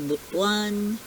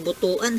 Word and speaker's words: Butuan: then yung iba sa butwan yan ang pronunciation po ng Butuan City hindi Butuan ha butwan Tapos sa Davao marami